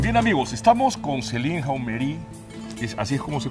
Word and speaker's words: Hameury: amigos, estamos con Céline Jaumery. ¿Así es como se pronuncia? Casi, casi. Casi, casi. ¿Podría, por favor? Céline Jaumery.